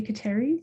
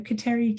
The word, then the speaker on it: Kateri: I've been taught that in Mohawk pronunciation, we would say Gatali to Gatawita. I say Kateri, because that's how I grew up hearing about her, and that's how I talk to her.